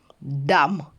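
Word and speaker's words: dumb: тільки ми будемо читати би буде німа літера німа літера вона не буде вимовлятися вона пишеться Но вона не вимовляється тому ось це слово 16 ми будемо читати дам просто коротко дам ще раз ми би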